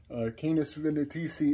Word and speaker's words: Canis Venatici: Canis Venatici, which I had messed up that pronunciation in my last video, so allow me to correct that. Canis Venatici is really a fascinating phenomenon, because just when